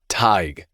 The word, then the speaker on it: Tig: Tig like tiger without the er.